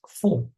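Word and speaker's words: ふ: It's not written who, it's fu. I mean, it's not pronounced who, but fu.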